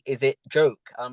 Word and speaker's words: Joké: and that's Instagram now I thought it was pronounced Joe K because you've got the accent over the e but you've said it as a joke a few times now yeah what was it